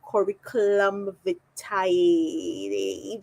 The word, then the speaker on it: curriculum vitae: So we call CVs, but it's actually curriculum vitae. That's the correct pronunciation.